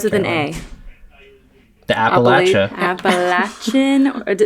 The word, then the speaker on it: Appalachian: Mountains wow saying guys it's not Appalachian it's appalachin okay so now we know